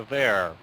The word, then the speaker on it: there: when you said there your th wasn't real strong it wasn't really vibrating really strong try it again but take your time and say the car is over there really make that sound big just go real big